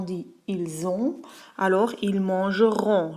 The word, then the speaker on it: mangeront: Alors ils mangeront. Le ONT est aussi prononcé comme on.